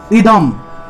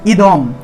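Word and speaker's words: ইদং: থাকায় উচ্চারণ হবে ম ইদম অনুস্বারের উচ্চারণ হলো ম অনুস্বারের উচ্চারণ হলো ম অর্থাৎ কোন একটা শব্দের কোন একটা শব্দের শেষে যদি অনুস্বার থাকে তাহলে সেটার উচ্চারণ ম রূপে হবে তাহলে ইদম ইদম ইদম স ঘৃত দন্তীয়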